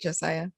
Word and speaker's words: Josiah: so i'm excited to have josiah i did pronounce that correctly right josiah yes perfect and i really just want to